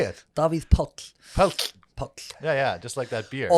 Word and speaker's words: Davíð Páll: the founders and owners of the secret cellar davit powell yes how you doing good good if you would pronounce my name properly how do you say it bobby's pulp Oh oops yeah yeah just like that beer